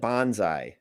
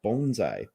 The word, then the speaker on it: bonsai: earlier because i said bonsai when we were coming up with different answers for it and he said no it's actually pronounced bonsai uh bonsai like you sigh after you break your bone bones bonsai is that